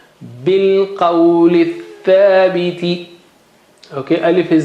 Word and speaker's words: بِالْقَوْلِ الثَّابِتِ: From bilqawli, lith and alif and lam are not pronounced, not read. So bilqawli thabiti, bilqawli thabiti.